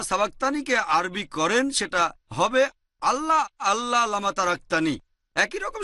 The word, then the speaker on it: আল্লাহ: বৈশিষ্ট্যের নাম হচ্ছে আল্লাহ তারা লেখে আই এল এ তবে উচ্চারণের সময় আমরা তাদের উচ্চারণ করতে শুনি আল্লাহ আশা করি উত্তরটা পেয়েছে